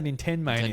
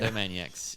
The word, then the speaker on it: Nintendo Maniacs: I just missed a syllable, to be fair. Nintendo Mania. I was about to say Nintendo Mania. Nintendo Maniacs, yes.